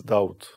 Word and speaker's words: Daud: it was david just i changed the pronunciation david to doubt david and is the same person